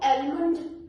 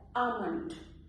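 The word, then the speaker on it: almond: इसको एलमंड नहीं बोलना है, इसकी सही प्रोनाउंसिएशन होती है आमंड, आमंड यानी कि बादाम।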